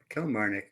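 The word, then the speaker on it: Kilmarnock: How do you pronounce that? Kil Kil. Yeah. Kell Marik.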